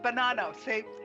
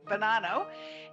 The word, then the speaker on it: Bonanno: Did I pronounce it? Bonanno. She told me and I still got it wrong. Bonanno.